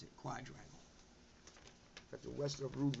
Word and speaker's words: quadrangle: the rest of rude quadrangle that's how you pronounce it quadrangle we've got the western root map which connects